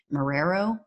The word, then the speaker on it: Marrero: u.s district judge victor mararo i believe is how you pronounce it marrero he just ruled yesterday